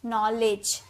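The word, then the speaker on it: knowledge: तो ये जो डी जी ई है ना इसे हम ज इसे लेडज नहीं बोलते इसे लेज बोलते हैं। नॉलेज नॉलेज ज का साउंड आता है और डी को भी हम ज बोलते हैं।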